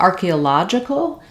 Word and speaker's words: archaeological: along the way then when we change to archaeological the syllable stress changes which means our vowel sounds are also going to change this is stressed on the law syllable uh the AR the fourth syllable instead of on the a syllable and so it changes where which letter O says a and which letter O says the uh sound it's just like the word logic iCal and then adding